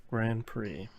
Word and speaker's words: Grand Prix: Paw Patrol Grand Prix. The auto player. Yes. It's This is pronounced the game- Gran Turismo. There's not a D.